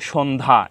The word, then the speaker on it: সন্ধ্যা: শেষে জ ফালা আছে তো শব্দের শেষে যদি জ ফালা থাকে শব্দ এর শেষে জ ফালা থাকলে সে জ ফলার কোন উচ্চারণ হবে না এখানে সন্ধ্যা এখানে সন্ধ্যা